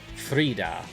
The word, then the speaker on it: Frida: up yes havalar and frida it rhymes with fajita burrito how far along